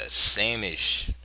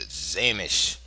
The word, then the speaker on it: Sämisch: and today's variation is the sameish or properly pronounced the zish variation of the Nimo Indian